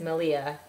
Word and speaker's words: Malia: I'm not gonna lie, I subscribe to Ply Magazine because Malia rhymes with Maria from the Yarn Raising podcast told me to.